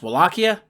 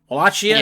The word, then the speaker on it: Wallachia: the uh country of uh uh is it pronounced wallachia wallachia yeah wallachia hey dr lisa hi well i am yeah